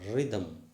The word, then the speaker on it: rhythm: okay c-a-r-r-y carry and r-h you know r-h the h is silent rime r-h-m-e rime r-h-t-h-m rhythm in w r whereas